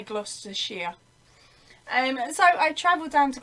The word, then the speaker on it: Gloucestershire: It's spelled Gloucestershire, but we say Gloucestershire.